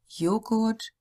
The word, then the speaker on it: Joghurt: The German J sounds like the English Y, as in yo-yo.